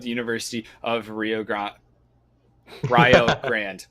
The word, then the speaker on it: Rio Grande: university of rio grande rio grande right that is that is the correct pronunciation just to make sure